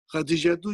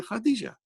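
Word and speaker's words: خديجة: You did not pronounce this ta at the end. Samaniya, Tis'a, Ashara. You did not pronounce the same way as you don't pronounce Aisha tu, you say Aisha. Khadija tu, you say Khadija.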